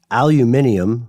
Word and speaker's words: aluminium: be in aluminum or aluminium for all the uh fans of bush yes right and the band and uh and everyone living in the UK or people who just prefer that sort of spelling pronunciation aluminum adant are used in vaccines